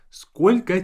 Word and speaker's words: сколько: We say сколько тебе лет. Сколько тебе лет. And notice that сколько, the last O is pronounced as A.